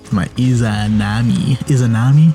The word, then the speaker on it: Izanami: My Izanami, that's how you say it.